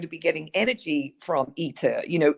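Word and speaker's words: ITER: reactor that's being built it's called eater it's spelled i t e r ether and it's being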